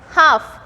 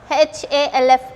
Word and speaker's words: half: Next half, H-A-L-F, half. So here again L is getting silent.